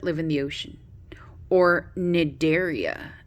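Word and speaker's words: Cnidaria: in the ocean or nigeria nigeria has the see that's silent and that's jellyfish or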